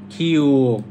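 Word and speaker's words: 키읔: তারপর হচ্ছে খিওক। খিওক, খ এবং ক। এই যে খিওক, এটা গ এর মতো, শুধু মাঝখানে আর একটা দাগ আছে। এই খিওকটা লিখাটা আর গ লিখাটা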